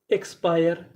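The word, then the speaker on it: expire: आईएस इंस पीआई आर ई पायर इंस्पायर इंस्पायर इंस्पायर का मतलब होता है प्रभावित करना ईएक्स एक्स पीआई आर ई पायर एक्सपायर एक्सपायर एक्सपायर का मतलब होता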